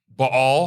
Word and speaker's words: Baal: So what we're setting up here is a major confrontation uh between Bal who it's commonly referred to as Bale, but uh Mike I think you got the correct pronunciation on that.